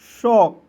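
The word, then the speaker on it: sock: इसलिए यहां पे सी को साइलेंट कर लीजिए।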